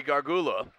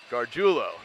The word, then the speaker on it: Gargiulo: Lions will be Joey Gargula. And that ball is a short kick. It'll take a Lion bounce inside the 30 down to the 28-yard line. Should I pronounce that? Gargiulo is how you pronounce that.